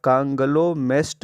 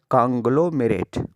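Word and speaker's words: conglomerate: सही प्रोनाउंसिएशन इसका है कांग्लोमेरेट।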